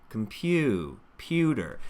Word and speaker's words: computer: Computer, computer. There's that U diphthong, and my teeth separate to help me make that the musical part of this word.